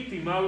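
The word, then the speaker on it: τιμάω: El griego lo tengo nuevamente aquí, timao es la pronunciación, honrar, y este es el significado, hermanos: poner un gran valor o un alto precio a algo.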